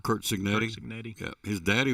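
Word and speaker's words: Cignetti: Kurt Signetti.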